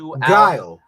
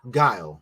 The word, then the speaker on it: Guile: It's like Gul. Guile.